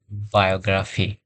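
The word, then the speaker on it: biography: যেমন আমরা আরেকটা দেখতে পারি VIO GRA PHOI, বায়োগ্রাফি, PHOI। এখানে আই এবং ও দুইটি পাশাপাশি ভাওয়েল সাউন্ড আছেন, যার কারণে আমরা এটির উচ্চারণ আয়ও করব, নট আই।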